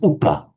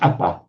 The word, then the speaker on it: upa: Is the Upanayika, is that upa or apa? It is from upa. Okay, that wouldn't be. Yeah. It's not apa. Okay. It's definitely upa, meaning up to.